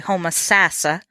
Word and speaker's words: Homosassa: I keep saying in this interview you hear Homosassa, but the locals say Homosassa.